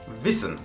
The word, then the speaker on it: wissen: En alemán la W se pronuncia como una B, haciendo vibrar el labio inferior.